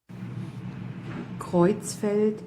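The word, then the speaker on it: Creutzfeldt: Somebody out in Facebook land actually uh found a German a native German speaker to pronounce this correctly for us. So, here it goes. Okay. I'm going to loop it a couple of times here. Kitzfeld Yakopitzfeld Yakop.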